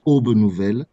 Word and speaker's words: Aube Nouvelle: Donc, voilà, c'est pour corriger la prononciation, c'est Aube Nouvelle, abrégé UOBEN.